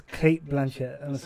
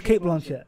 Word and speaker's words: Cate Blanchett: I actually think that Cate Blanchette it's Kate Blanchett I've always known as Kate bench literally it's Kate Blanche and you pronounce it no it's Kate Blanchett 100 it is not 100